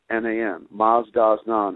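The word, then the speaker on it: Mazdaznan: And there's the Masdasnan Association out of Canada currently is publishing that book, and it's spelled M-A-Z-D-A-Z-N-A-N, Masdasnan.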